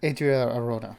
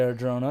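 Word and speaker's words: Adria Arjona: is it spelled I I say Adria Adria Arona you know or for like the people who can't pronounce it are Joe them you know oh I hope they don't say our drona because that's like no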